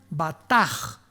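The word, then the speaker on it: בטח: Y es la palabra hebrea batch con B de burro y ch al final. Se pronuncia bataj.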